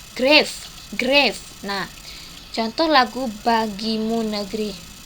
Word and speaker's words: grave: Tempo sangat lambat disebut grave tulisannya ya. Dibacanya grave.